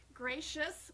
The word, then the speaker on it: Gratias: you folks at home gracious which is not spelled the way it's pronounced oh it's g-r-a-t-i-a-s dot